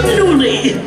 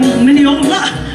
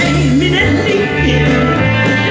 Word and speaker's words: Minnelli: How often I remember someone saying, there she goes, Lisa Minnelli, or Minnelli, or Minniola, or Minnelli, or Minnelli. So is it a wonder I very often cry? It's M-I-double-N, then E-double-L-I.